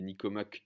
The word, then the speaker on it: Nicomaque: nicomaque éthique peu th et nicomaque vraiment comme ça se prononce avec un curieux à la fin nicomaque l'éthique à nicomaque